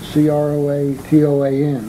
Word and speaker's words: Croatoan: on one of the trees was the word c-r-o-a-t-o-a-n Croatoan or some is that pronunciation when Joe and I were over in